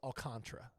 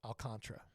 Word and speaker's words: Alcantara: it well you didn't misspell it but it's pronounced alcantra it looks like Alcantara like Sandy Alcantara yes but he actually pron it's actually pronounced alcantra where's Kevin from Kevin alcantra Dominican Republic I